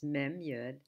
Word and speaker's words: מי: confused we're going to start with this words Memu and it's pronounced me me means who and thus begins